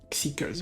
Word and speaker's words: Xikers: Again, if you like 80s, I don't see why you will like Xikers as well. I think that's how you pronounce his name, right? Xikers, yes.